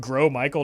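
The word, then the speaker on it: Gros Michel: had a good stream French speaker here it's pronounced grow Michael not gross I'm sorry but this is America and it's pronounced gross Michael he's disgusting and we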